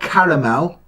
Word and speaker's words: caramel: Now, Americans, it's spelled C-A-R-M-E-L, Carmel, right? Not caramel, which you call Carmel, because you can't speak properly.